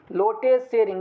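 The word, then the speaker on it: Lotay Tshering: भूटान का कैपिटल थिम्पू, भूटान के करेंसी नगल्ट्रम, भूटान के पीएम लोटे सेरिंग, लोटे सेरिंग। यहाँ पे टी साइलेंट है friends, लोटे सेरिंग, पीएम of Bhutan लोटे सेरिंग।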